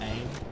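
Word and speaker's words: Eayn: basically they come from a planet of called aim which is it's spelled e a y n and that was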